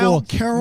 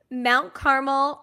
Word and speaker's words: Mount Carmel: Mount Caramel Mount Caramelly Red Tornadoes? Mount Carmel Red Tornadoes. The Mount Carmel. There was an extra syllable in there somewhere.